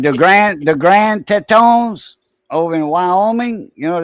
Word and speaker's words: Tetons: Yeah, the Grand Tetons. Yeah, that's French for titties. And that was a French explorer that named that range the Grand Tetons. That's how it's pronounced in French, the Grand Tetons.